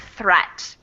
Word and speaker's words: threat: Watch out for meat and great and threat. They rhyme with suit, straight, and debt.